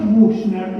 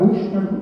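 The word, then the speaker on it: Büchner: escribe Bushner con larga, Bushner, yo lo pronuncio así castellanizadamente.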